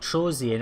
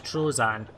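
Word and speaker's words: Troezen: It was only recently that I actually discovered it's not Trozian. I think on the impressions guide it actually says Trozian, but it's Trozan. I say it like that because that's how it is. I don't say the E, it's a silent E to me.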